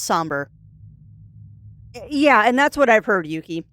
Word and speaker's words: Sombre: So, it is pronounced somber.